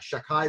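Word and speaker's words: Shakkai: havaya the shame elokim we don't actually pronounce it as such instead we say shakai with a koof it's considered one of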